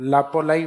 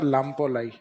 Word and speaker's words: लामपोलाई: माना जाता है लापोलाई वैसे सही नाम है इसका लामपोलाई क्या लाई लाम्पोलाई तो यह कई अगर इस आधे मैक को साइलेंट करके भी लिख देते हैं तो समझ जाओगे आप लापोलाई या लामपोलाई तो लामपोलाई इज द